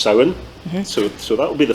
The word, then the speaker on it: Samhain: So the first one is actually tied into Halloween, which is in Irish pronounced Samhain.